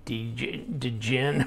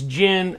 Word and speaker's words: Djinn: Like, I used to say Djinn or whatever, but it's Djinn. I mean, you've seen movies where the magic being, it's a Djinn, right? And so the D is silent, but here it is.